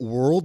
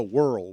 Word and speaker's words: whirl: I do Wonder though are you pronouncing it world the pool with a D in there no Whirl Whirl that's worried thank you